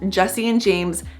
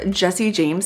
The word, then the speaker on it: Jessie James: by a company called Jesse and James handbags I pronounced that wrong it's called Jessie James handbags not Jessie and James handbags so depending on